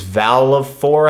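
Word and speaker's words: Valefor: this game aons and this is Val of four I think is how you say it so yeah like Final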